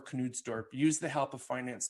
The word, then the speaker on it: Knudstorp: So basically this new guy who came in, I think his name is pronounced Knudstorp or Knudstorp, used the help of finance director to run an in-depth financial analysis and product line.